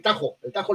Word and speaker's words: Tahoe: Exacto, pero realmente, bien pronunciado en lengua gringo hablada, se dice el Tajo Lake.